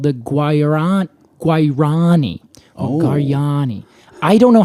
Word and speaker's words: Guarani: Well, that's how I would say it. Guarani. Say it one more time. Guarani. Guarani. Yeah. What? You don't really say the G in Spanish if Hold this is on.